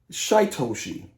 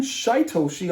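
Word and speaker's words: Shytoshi: of this team uh rhymes with ryoshi shaitoshi okay another i think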